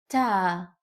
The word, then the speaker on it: ت: Ta is pronounced like the T in English.